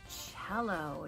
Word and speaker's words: cello: that one is the cello now cello is spelled kind of funny it starts with a c not a c h